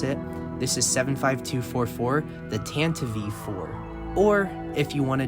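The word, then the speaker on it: Tantive IV: else that never really knew exactly how to pronounce it this is 75244 the tanto v4 or if you want to just call it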